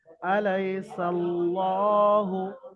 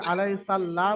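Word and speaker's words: أليس الله: যেরকম ল উচ্চারণ হয় ল উচ্চারণ করে পড়তে হবে অর্থাৎ পুর করে পড়তে হবে আলাইসাল্লাহু আলাইসাল্লাহু কেউ যদি আলাই সাল্লাল্লাহ বলে কি ওটা বারিক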